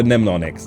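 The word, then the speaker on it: mnemonics: The first M is silent. So, Nemonics, Nemonics. Yeah, I got some some stack for in general, too.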